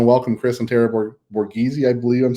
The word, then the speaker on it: Borghese: It's Borghese. Borghese. You gotta throw the Italian in.